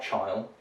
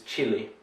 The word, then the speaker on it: chili: the final one here i've heard this pronounced as child it's not child it's chili as in the spicy